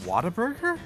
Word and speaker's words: Whataburger: Wait, it's pronounced Whataburger? Yeah, Whataburger. like how I they thought say it in was Baltimore. Whataburger. Yeah, it's like what a burger.